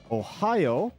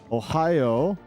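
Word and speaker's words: おはよう: Ohio gozai masu. But in Japanese, you tend to just throw... Oh, fuck, it's behind. Oh, I didn't plan this out. Very well. Ohio.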